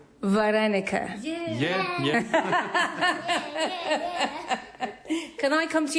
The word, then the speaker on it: вареники: How do you pronounce it? Вареники. Varenica.